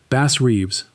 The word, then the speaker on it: Bass Reeves: Bass Reeves rhymes with leaves.